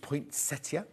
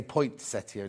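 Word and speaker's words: poinsettia: singing the potia song actually I'm saying it wrong there's no T is it it's potia not potia no there's two T's there but there's no T where point I say Point Seto it's not Point Seto is it gorgeous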